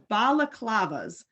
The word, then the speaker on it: balaclava: I Googled it today, balaclavas. So it almost looks like baklava, but you try it